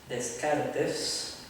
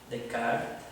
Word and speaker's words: Descartes: Uno de estos racionalistas es el famosísimo René Descartes, como lo pronuncian algunos, Descartes, como debería pronunciarse, de 1596 al año 1650.